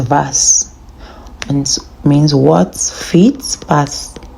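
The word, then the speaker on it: was: we learn the alphabet W is V so it's pronounced vas and means what fits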